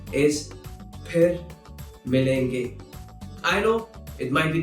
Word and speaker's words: फिर मिलेंगे: So, most of the times, people will use f instead of its right pronunciation, which is ph. So, if you hear someone saying fir milenge, that is incorrect.